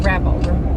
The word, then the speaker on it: rappel: I think it's rappel, rhymes with apple.